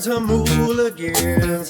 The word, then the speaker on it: Jamuligans: Jamuligans, spelled like jam, but sounds like ham. Jamuligans, listen along with your friends and fam.